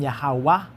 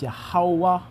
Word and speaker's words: Yahawah: like a U, but the pronunciation is more rounded like a U.